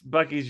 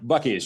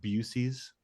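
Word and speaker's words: Buc-ee's: Have you heard the urban legend that it's pronounced Busey's? What? There is zero chance that a company that originated in Texas that's spelled that way is Busey's.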